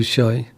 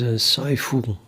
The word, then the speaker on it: Saiful: I always called you Shai. You pronounce it as Saiful.